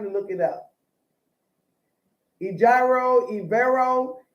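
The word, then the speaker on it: Evero: didn't have time to look it up agiro ivero e j i r o e v e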